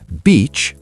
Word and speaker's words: beach: Yes, beach has a long E sound. Bitch has a short I sound. Say beach like B plus ch. Beach. Now say bitch, short and quick. Bitch.